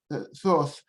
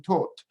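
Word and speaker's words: Thoth: are two pronunciations of the name some people pronounce it in the english way uh thought but i've heard it from from those who who are specialists in egyptian mythology i heard only the pronunciation taught without any age and i think it's better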